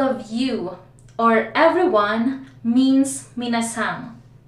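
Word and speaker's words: 皆さん: Ladies and gentlemen, all of you or everyone means minasan. The spelling is minasan, but sometimes yung pronunciation nila is minasan. Nagkakaroon ng G sa dulo.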